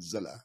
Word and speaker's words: Zilla: Zilla House is probably good because they keep saying Zile. It's actually Zilla.